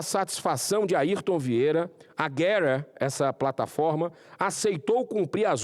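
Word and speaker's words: Gettr: Getter, para ser a pronúncia em inglês correto, criada por Jason Miller, ex-assessor do presidente Donald Trump.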